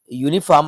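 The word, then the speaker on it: uniform: आते हैं दिस इ यूनिफॉर्म यूनिफॉर्म आपको या का साउंड दे रहा है जोक कंसोनेंट साउंड है य राइट आंसर होगा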